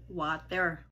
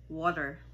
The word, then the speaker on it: water: kanilang pag-pronounce niyan ay water. Hindi po yan water, no? Yan ay water. Water. Yung pong sa American pronunciation, yung T ay parang nagiging D, no? Mabilis lang.